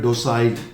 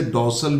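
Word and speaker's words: docile: हालांकि American pronunciation में इसे डॉसल भी कहते हैं। अमेरिकन प्रोनाउंसिएशन जो है वो इसका डोसल हो जाता है, पर ब्रिटिश में ये डोसाइल है।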